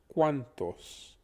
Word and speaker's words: cuantos: it down would be the cu would be cool much like quebec think of that put initial q u uh that would be the way the cu is pronounced then you have a n becomes an and think of the name hans and think of the sound that you make in the center of hans remove the h and the s the